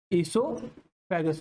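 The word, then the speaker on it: oesophagus: ईसोफेगस, ओ silent है, ईसोफेगस।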